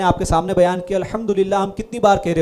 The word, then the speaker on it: الحمدللہ: الحمدللہ ہے نا، لفظ الحمدللہ، اگر ہا کو واضح نہیں کیا نا، ایسے ہی پڑھ دیا الحمدللہ، یعنی ہا کو صحیح تلفظ کے ساتھ ادا نہیں کیا، تو یہ الحمدللہ کا مطلب بن جائے گا دھیمی آگ اللہ کی.